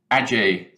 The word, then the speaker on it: Age: of people ask me how do you pronounce our school motto and having studied latin for many years i hope that you will accept that my pronunciation here is the right one ajay and please encourage your